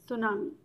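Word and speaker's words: tsunami: ठीक है, सुनामी एक ऐसा वर्ड है, जापानीज वर्ड है, स्पेलिंग आप देख रहे हो, टी साइलेंट है, TSU सू और NAMI नामी, सुनामी।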